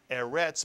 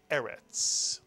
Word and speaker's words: Eretz: Please remember that a word with two segols tends to be accented on the first syllable. So this is not Eretz, but Eretz, Mitsuyan.